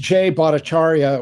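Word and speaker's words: Jay Bhattacharya: On The Fringe and and uh at least Jay bought acharya which is how it's pronounced was interviewed numerous or more than once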